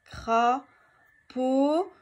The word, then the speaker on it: crapaud: Crapaud. Où est-ce que j'entends O dans crapaud? Donc, dans la deuxième syllabe.